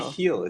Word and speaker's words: Michiel: It's Mikkel. Michiel. It's the Dutch version of Michael.